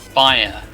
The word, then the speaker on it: Spire: Spire, like on top of the tower.